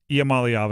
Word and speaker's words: Iamaleava: Iamaleava is how you say it.